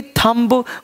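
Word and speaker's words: thumb: टी एच यू एम बी, थम्ब, बोलेंगे थम, थम मतलब अंगूठा।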